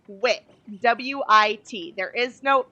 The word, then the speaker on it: wit: whiz W out and you don't don't pronounce the h i don't know if you're not hearing this okay it's Whit wi T there is no h